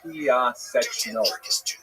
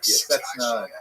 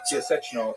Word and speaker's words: Piaseczno: 14 kilometers outside Warsaw, which is pronounced in Polish, Piaseczno. Since there's a couple of sounds there that are hard to reproduce in both English and in Hebrew, it's sometimes rendered Piaseczna, Piaseczno, things like that, but Piaseczno is the correct pronunciation.